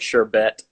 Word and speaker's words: sherbet: to be sorbet but somehow it turned into sherbert it's some primetime definitely added the other are cuz pronunciation are phonetically correct order and looks like sherbet or whatever right there